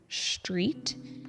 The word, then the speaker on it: street: The mispronunciation is pretty similar to the first tr sound, where Vietnamese speakers often leave out the R. For example, in the word street, it is often mispronounced street.